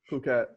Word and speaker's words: Phuket: We are here today with Michael Gardiner, coming in from, how do you pronounce it? Phuket. Yeah, because I mean, I don't want to pronounce it the other way that people usually pronounce it.